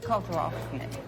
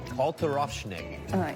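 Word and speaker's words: Kalter Aufschnitt: Kalterofschnitt. Kalterofschnitt.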